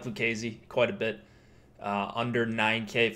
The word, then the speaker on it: Lucchesi: It's a strong K, so it's Lucchesi. But yeah, there we go. So I'll take the L on that one. It's not Lucchesi.